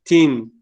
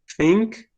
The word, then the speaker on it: think: So in this case, we're going to say thought or think. It's not to say tin or thin. It's think.